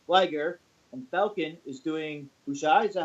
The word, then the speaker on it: Bushi: Chargrove is doing Jushin Thunder Liger, and Falcon is doing Bushai. Is that how you pronounce it? Bushi?